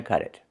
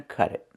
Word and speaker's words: cut it: Pronunciation: that's not going to cut it. Cut it. We hear the T in cut change to a fast D because it's between vowels. Cut it.